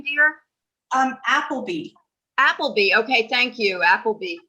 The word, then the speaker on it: Appleby: Appleby.